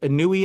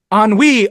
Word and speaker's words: ennui: This emo character, Anui, I guess, is pretty sweet. How do you pronounce it? Ennui.